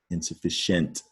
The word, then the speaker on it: insufficient: all right so some for some reason we pronounce that with a Shh okay so don't spell